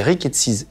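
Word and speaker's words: rickettsies: Et après, tu te lances à l'hôpital, la Timone, dans l'étude des rickettsis. C'est comme ça qu'on prononce?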